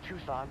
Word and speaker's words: Tucson: Well, it's pronounced Tucson, but I'll forgive you.